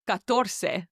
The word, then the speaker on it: catorce: So I came up with this thing in my head of it's like, cut your toes, catorce. I don't know why, but every time I remember 14, I think, cut your toes, catorce.